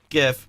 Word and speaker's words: GIF: According to my research, Steve Wilhight, the computer scientist who created the graphics interface format, GIF, pronounces it soft GIF.